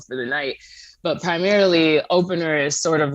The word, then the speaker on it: OPNR: I called it OPNR, and I said, "How do you pronounce Everybody this?" does. And Dre's like, "It's opener," and I'm like, "Oh, that makes perfect sense."